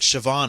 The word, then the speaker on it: Siobhan: of Irish names like Siobhan is a very famous one yeah the be can sometimes be V yeah sioban is spelled Coban